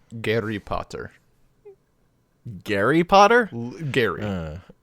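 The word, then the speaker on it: Гарри Поттер: In Russian, it is pronounced Gary Potter.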